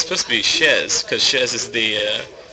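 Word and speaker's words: chaise: it's supposed to say it's supposed to be Shez because Shez is the uh French word for chair oh but we just pronounce it Chase SL and after like 70 years of doing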